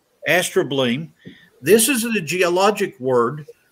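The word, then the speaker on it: astrobleme: for truth can you see this word it's pronounced astra bleem astro bling this is a geologic word for an ancient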